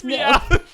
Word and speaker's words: Meowth: Pronounce his name again. No. Okay. Okay. Is it Meowth? It's Meowth.